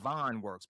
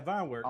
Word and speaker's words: Vine Works: Because it looks like Van Works, but something's telling me it is. No, you're right. Yeah, Vine Works.